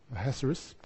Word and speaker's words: Ahasuerus: Yeah, that's the Hebrew way he meant to say his name, but I'll stick to the anglicised version, Ahasuerus.